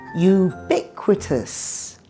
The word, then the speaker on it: ubiquitous: With a long word, it often helps to start at the back and work forward. Try it with me. Tus. Quitus. Biquitous. Ubiquitous.